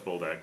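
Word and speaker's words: Buldak: I'm saying it wrong. 3, Boldak. 4 nights? Boldak. I thought it was that. She's like, no, it's Boldak.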